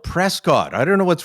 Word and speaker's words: Prescott: a place that you guys mysteriously call Prescot it's spelled Prescott I don't know what's wrong with you it's